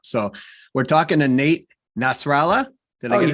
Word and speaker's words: Nasralla: by the way, I'm going to try to pronounce Nate's last name because I keep messing it up. So we're talking to Nate Nasralla.